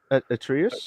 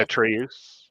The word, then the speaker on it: Atreus: Sonny Sulcic, if that's how you pronounce it, who plays Atreus. Atreus. yeah, Atreus. Atreus.